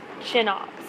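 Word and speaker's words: CHNOPS: you but when i learned this i learned chinops and that's a pretty standard acronym this is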